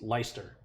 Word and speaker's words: Leicester: It looks like it's spelled Leicester, but I believe it's pronounced Leicester.